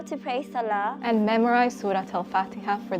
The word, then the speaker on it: salah: So in Persian we say salat because we pronounce the te at the end, but Arabs apparently don't. They say salah.